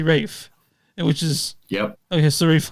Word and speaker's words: Ralph: Rines yeah yeah I in England they don't say Ralph they say Rafe which is yep okay